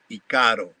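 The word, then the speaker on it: ícaro: When I hear somebody, even a shaman, say Ikaro, I know that it has been influenced by the Western, because it is pronounced Ikaro.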